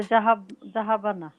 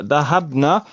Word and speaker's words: ذهبن: Also, Jahabana. Yes, so dahabna, you put a sukoon on the ba, and then a fatha on the noon.